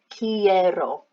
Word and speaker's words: quiero: quiero quieres quiere quieran make sure you get that pronunciation as well it's almost like a key literally you're you've got a key in your hand quiero and then what is